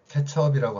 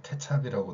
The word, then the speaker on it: 케첩: 그래서 케첩처럼 어로 발음해야 되는데 찹이라고 발음한다는 거죠.